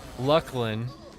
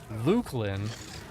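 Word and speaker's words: Luclin: Waterboarding for an EQ vet is strapping them to a chair in a quiet room and mispronouncing Lucklin to them as Lukelin or Looselin if the torturer is exceptionally cruel.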